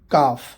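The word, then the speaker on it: calf: हाफ, L silent है मतलब आधा। काफ, उसके दो मीनिंग बनते हैं, बछड़ा या फिर पिंडली, यहाँ पर भी एल साइलेंट है।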